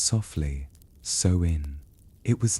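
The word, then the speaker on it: Samhain: They called it Samheimine, spelled S A M H A I N, but pronounced softly so in.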